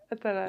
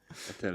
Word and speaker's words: Attallah: Attallah, yeah. Attallah. That's still the French way of pronouncing, but all good. Attallah.